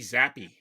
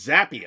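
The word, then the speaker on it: Zappe: Zappy or Zap? It's Zappi, I believe. I've heard a couple of talking heads pronounce it Zappi.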